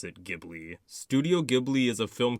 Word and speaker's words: Ghibli: Some people pronounce it Ghibli, but I'm gonna pronounce it Ghibli.